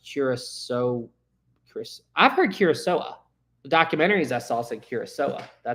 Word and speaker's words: Kurosawa: Stan says, Sam, I believe the Kurosawa is pronounced Kurosawa.